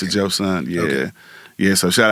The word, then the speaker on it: Joseon: Joseon. Empire. S-E-O-N. Yeah. Joseon. Yeah, Joseon. Joseon. How you spell it again? Joseon. E-O-N. And they pronounce it Joseon.